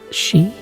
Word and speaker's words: Sidhe: She? No, she. It's spelled Sidhe. The doc in town says it sounds a lot like she.